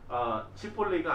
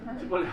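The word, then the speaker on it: שיבולת: 쉿볼렛이 쉿볼리가 아니라 쉿볼렛 아시죠? 맛있는 거 그거. 그 발음하기 쉽지 않잖아요.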